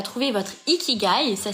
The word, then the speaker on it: ikigai: fait et ça c'est ce qu'on appelle un nickigai pour ceux qui connaissent pas je vous invite à trouver votre equidai ça s'écrit i K i G a I tréma